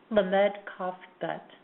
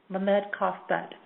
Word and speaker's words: Lamed Kaf Bet: And the way that this name is pronounced, the common name being finish what you start, but the key name here is pronounced Lamed Kaf Bet. Lamed Kaf Bet.